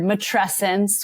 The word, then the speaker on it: matrescence: most of them is the word matrescence which rhymes with adolescence and is similar to adolescence which points to this